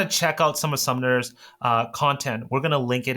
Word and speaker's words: Sumner: And by the way, it's Sumner. I've almost mispronounced this. It's Sumner.